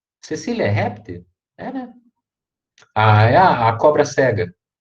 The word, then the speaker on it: Caecilia: também igual gênero né cecília cecília um filho já me corrigir silêncio pelo amor jesus expiram filho a então se escreve caecilia mas se lê cecília tá igual o nome em português ep 1 a sinóvia